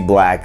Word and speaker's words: 6LACK: And so it said Black, but it's just spelled kind of weird, but it's like he's called Black. So it's spelled weird, but his name is actually Black, right?